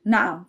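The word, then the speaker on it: نعم: You may also hear the word nam for yes which is the same as standard Arabic.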